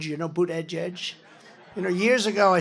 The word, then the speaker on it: Buttigieg: And Buttigieg, you know Buttigieg? You know, years ago I said, how do you pronounce that damn name? And they said, edge, the word edge. That's the way it's pronounced, Buttigieg.